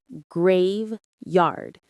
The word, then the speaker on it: graveyard: The stress is on the first syllable, grave. Say it with me, graveyard. It's like grave, as in serious, and then yard.